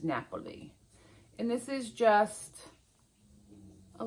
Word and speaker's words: Napoli: Um, and it in Italian it's Napoli. Naples is Napoli.